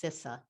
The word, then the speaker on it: CISA: needed to learn was how to pronounce the uh the name so it's cisa so so just want